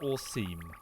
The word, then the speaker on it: Orcm: Thank you Orcm, pronounced Orseam, and Bank Ruz.